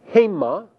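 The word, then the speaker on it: הֵמָּה: There are two forms for the third masculine plural, haim and hema.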